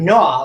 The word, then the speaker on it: gnaw: with my GN now do I hear the G in that word do I say G I don't the GN Blends works together to make that n Sound and the g is completely silent here's what you're going